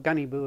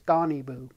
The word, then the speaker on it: Guniibuu: you can call it gunny boo if you want uh but according to the internet uh the u is pronounced like america or about so it's donnie boo and uh it has